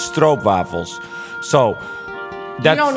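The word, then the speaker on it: stroopwafels: only eat strob waffles some people pronounce it stro waffles but that's wrong it's strobe waffles so that's you don't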